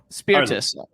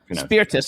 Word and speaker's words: Spirtas: kevin how do i correctly spell your uh pronounce your last name you correctly spell my last name spearfish spiritus spiritus okay so i did it pretty close earlier